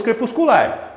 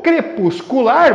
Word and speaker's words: crepuscular: Já o crepuscular, você conta até o final, porque a sílaba forte é exatamente a última.